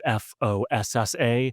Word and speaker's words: fossa: aware of this, but in the language of Madagascar, it's spelled with only one O, so it's Fossa.